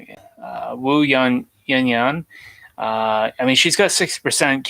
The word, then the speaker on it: Wu Yan: Wu Yan.